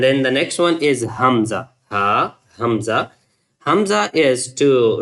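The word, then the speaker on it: همزة: Ha, Hamza. It's like also the Hamza is the name of one of the boy's name and maybe you can pronounce it easily like Hamza.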